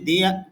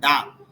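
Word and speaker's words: the: আর ভাওয়াল সাউন্ডের পূর্বে যদি দি টিএইসি আসে তখন উচ্চারণটা হবে দি। আর কনসোনেন্ট সাউন্ডের পূর্বে যদি টিএইসি আসে তখন উচ্চারণ হবে ডা।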